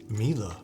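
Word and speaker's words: Miele: Mila. Really? Dude, I've been pronouncing it wrong all these years.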